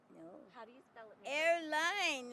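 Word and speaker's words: Arline: think that's it Airline like in the plane that's how you spell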